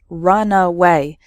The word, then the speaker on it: runaway: speed before taking off so the first word has three syllables run away and the second word has just two syllables runway completely different meanings okay